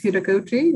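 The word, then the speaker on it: heutagogy: I know, I'm just saying Udagogy. It's with a T, but they pronounce Udagogy.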